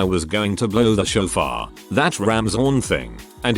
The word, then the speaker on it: shofar: going to blow the shofar that ram's horn thing and he talked about what it was going to symbolize and all but he pronounced shafar exactly like chauffeur so i was just